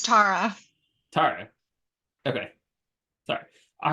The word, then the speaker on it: Tarra: Is that how I pronounce it? It's Tara.